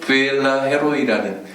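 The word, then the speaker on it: 브엘라해로이: 부엘라 헤로이라는 라헤로이, 이제 영어 발음으로는 부엘라헤로이 이렇게 읽어야 되더라고요.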